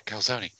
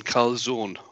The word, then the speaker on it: calzone: Right, John from New Jersey has said, you don't pronounce the E in calzone.